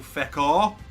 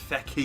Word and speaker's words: Fekir: it I do remember I used to call them now bill feck off and so will told me it's Becky yeah EER on the end although it doesn't look like that lies how it's pronounced whoever told me thank